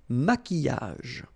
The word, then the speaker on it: maquillage: maquillage, okay, so here, same rule, Q, U, but then U is not pronounced, so qui, and then y, y, maquillage.